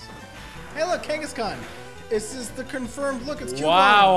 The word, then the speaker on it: Kangaskhan: out of this click I pronounce that Kangaskhan him like did you know i used to pronounce it Genghis Khan I'm like wait a